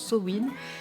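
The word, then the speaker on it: Samhain: grimoires et voilà, si sa main ça vous parle pas, oui je dis sa main parce que j'ai toujours dit sa main, alors je sais que normalement on prononce Sowin, mais moi j'y arrive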